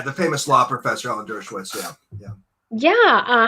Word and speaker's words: Dershowitz: There was Alan Demowitz. I may have mispronounced his name here. So there are some interesting people. Yeah, the famous law professor, Alan Dershowitz.